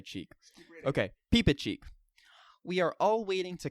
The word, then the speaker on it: Reepicheep: okay we'll go ahead and say cheek okay peepa cheek we are all waiting to cut off our